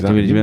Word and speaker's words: Jameela Jamil: Yeah, Jameela Jamil.